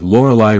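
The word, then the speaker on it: Lorelai: show as an aside note that laurelai rhymes with Nikolai in essence Rory is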